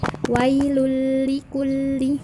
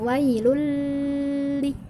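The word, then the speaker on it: وَيْلٌ لِكُلِّ: bertemu dengan huruf lam ingat ya cara membacanya adalah masuk tanpa dengung Jadi kalian jangan melamakan Card pada tata nulis sama tilu jadi langsung masuk ke huruf lam wailullikulli bukan wailuli itu namanya ditemukan di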